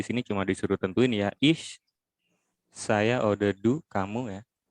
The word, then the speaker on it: ich: Ya, jadi ini kalau mau belajar pelafalan ini dibacanya agak S ya. Ich.